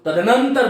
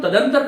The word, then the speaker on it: तदनंतर: तदनंतर बन जाएगा। इसका उच्चारण हम तदंतर कर देते हैं, यह भी कदाचित अशुद्ध है, इसका हमें शोधन करना चाहिए। तो शब्द क्या बनेगा बोलो? तदनंतर।